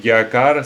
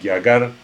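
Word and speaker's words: རྒྱ་གར: Alors, de nouveau, si vous disiez Gyakar, c'est pas faux, ça va. Mais c'est vrai qu'à l'usage, vous entendrez plutôt Gyagar mais Gyakar.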